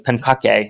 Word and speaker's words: Pancake: Yes, it says Matthew Pancake. And the original pronunciation was Pankake, and they decided to push past that.